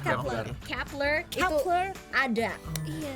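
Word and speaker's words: Kep1er: Kepler, bacanya Kepler.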